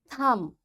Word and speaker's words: thumb: That's why this B is coming after M, this B will be silent. We will say comb, tomb, bomb, thumb, climb, and lamb. In all these words, you can see B is silent. Why? Because before B, there is M. So this M is making this B silent, and we don't pronounce it.